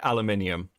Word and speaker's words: aluminium: So, obviously the British say aluminium, okay, and not aluminum.